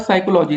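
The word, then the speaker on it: psychology: Which letter is silent in the word साइकोलॉजी, तो यहाँ पर पी साइलेंट है।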